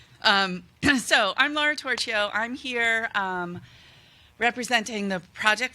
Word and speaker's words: Torchio: my name is Laura tortilla and I love the way she pronounce my name louder that's how they say it in Italy where my ancestors are from and so I'm Laura tortilla I'm here representing the